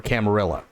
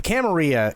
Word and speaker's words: Camarilla: Okay, so for those who don't know, the Sabbat is the opposite of the Camarilla or Camarilla, right? I think it's actually pronounced both ways. But the Camarilla is essentially an organization that allows the masquerade to continue, right?